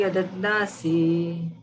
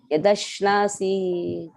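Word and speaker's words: यदश्नासि: Yad karoshi yadadnasi. Yadashnasi. Yadadnasi. You don't know how to pronounce sha.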